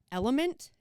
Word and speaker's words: LMNT: we've done ads for element lmnt is how it's on that's how it's spelt for their logo but element has a